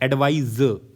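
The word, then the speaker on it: advise: तो जब वर्ब के तौर पे यूज़ हो रहा है तो एस ई होता है। एडवाइज ज़ मतलब हम लास्ट में प्रोनाउंस करते हैं। और एडवाइस जो है जहां पे सा होता है वो that is ए डी वी आई सी E. This is noun. तो ये चीज ध्यान रखना है।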